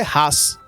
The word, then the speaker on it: Hass: tempo na verdade que res em alemão significa ódio mas a pronúncia é ras em alemão aí tinha algumas pessoas